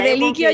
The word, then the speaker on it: Cardellicchio: no, no, no, no, yo ya lo Cardeliquio ya no es, confirmé.